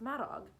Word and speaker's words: Maddock: voice rose with excitement when maddock is spelled the welsh way it's maddog get it gowdy or